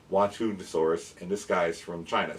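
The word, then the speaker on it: Xuanhanosaurus: And in China, we have it's spelled with an X, but it's Wantunosaurus, and this guy's from China.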